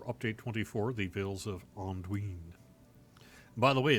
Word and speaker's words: Anduin: 24, the Vales of Anduin. By the way, it's not Anduin, nor is it Anduin. It's actually Anduin, according to a pronouncer I heard.